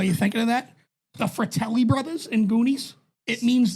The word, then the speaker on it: Fratelli: than the fact that Al pronounce as the FY Brothers farelli Brothers like yeah yeah he's like they're the farellis but and he's so confident with yeah they're like no it's fa they could be like